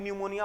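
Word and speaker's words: pneumonia: अब नहीं, न्यूमोनिया का पी न्यूमोनिया पढ़ रहा है, पी आगे साइलेंट होता है।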